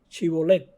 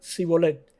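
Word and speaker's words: שיבולת: Si él respondía no, entonces le decían, ahora pues di Shibolet. Y él decía Sibolet, porque no podían pronunciarlo correctamente. En este ejemplo vemos que los efrateos no podían pronunciar la palabra Chibolet. Chibolet quiere decir mazorca. Sin embargo, decían Sibolet.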